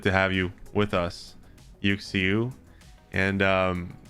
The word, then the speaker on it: UxieU: you see okay but is that how you say it you see you yeah okay you are a